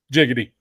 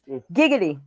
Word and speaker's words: giggity: Well, with a G, it's giggity. With a J, it's jiggity.